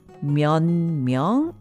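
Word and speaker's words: 몇 명: Did you notice that myeot myeong became myeon myeong in pronunciation? Yes, there's a slight discrepancy between the spelling and pronunciation as we see in many other cases.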